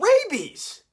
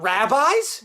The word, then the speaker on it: rabies: Rabies, not rabbis.